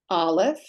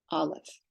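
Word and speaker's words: א: and here we go Olive is silent Olive bait B p giml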